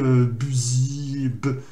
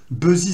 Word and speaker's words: busy: Alors, pareil, il ne faut surtout pas prononcer busy. Busy, ça ne fonctionne pas non plus. Là, on va prononcer busy.